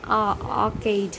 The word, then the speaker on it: arcade: In American and arcade in British, the R silent.